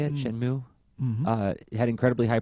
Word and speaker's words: Shenmue: Shenmue?